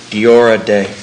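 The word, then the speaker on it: Deora Dé: Diora Day.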